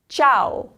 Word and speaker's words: ciao: It's ciao, because the C is followed by an I.